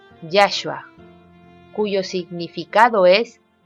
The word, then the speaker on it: Yahshua: su escritura es hebrea que se lee yahua que se pronuncia yashua cuyo significado es y